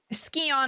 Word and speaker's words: Scion: looked it up and it is pronounced um skon I hope this helps thank you no the thing is the thing is that they pronounce it skon in this game like the voice actor say skon but everyone says cion and I'm just like